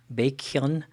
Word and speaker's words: Baekhyun: suho lay bacon mr bacon i'm not going to call him bacon because i think that's kind of weird i think it's pronounced baekhyun so baekhyun uh potential bias